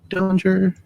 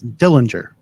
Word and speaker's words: Dillinger: all right five for Diller I was mispronouncing his name it's Dillinger I I'm I think